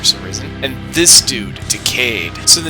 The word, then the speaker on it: Decade: so the name right decayed is upon decade as in this was a 10 year anniversary but also is pronounced like decayed like when things are breaking and falling apart neat anyway turns out